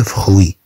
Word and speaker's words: fruits: طبعا UI تنطق وي. طبعا TS لا تنطق. تي لا تنطق. S خاصة بالجمع.